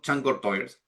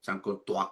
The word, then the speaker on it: Chancourtois: Este señor, Alexander Charlton Chancourtois, ¿ya? No se pronuncia así, Chancourtois creo que es porque es francés este señor, ¿ya?